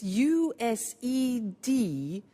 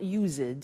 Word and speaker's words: used: It's it's u s e d and then t to o. But the pronunciation is not use it. It's used.